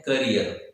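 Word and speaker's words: career: हम उसे बोलते हैं करियर, नॉट कैरियर, है ना। People of Agra they always speak what, कैरियर।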